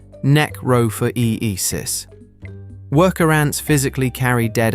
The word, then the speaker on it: necrophoresis: Ants perform something called necrophoresis, pronounced neck-ro-for-e-e-sis.